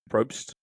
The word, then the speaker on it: Probst: How do you pronounce his last name? Probst.